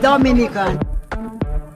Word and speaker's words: Dominica: boom we call it dominica yes the nature i love the caribbean it's rum punch time oh we call it dominican is spelled d-o-m-i-n-i-c-e it is not dominican republic it is pronounced dominica and is situated between